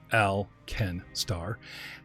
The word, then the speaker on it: Alkenstar: alkenstar the city-state of alkenstar pronounced al ken starr has gained an unexpected